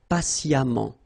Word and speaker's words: patiemment: So as I told you, even if you write it EMMENT, phonetically it goes like amant, patiemment.